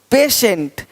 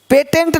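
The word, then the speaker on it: patient: है ही नहीं देखो पेशेंट पेटेंट नहीं पेशेंट पेटेंट पेशेंट पेटेंट पेशेंट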